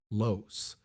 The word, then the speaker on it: loess: She had heard the word from Torvaldson, loess, pronounced like less, German for loose, but it wasn't loose. Where the creek had cut through, the loess stood in vertical walls, clean as if sliced with a knife.